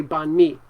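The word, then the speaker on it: bánh mì: It's called banh mi, or bun mi, I think. I don't know how to say it correctly, but in America, people will say banh mi.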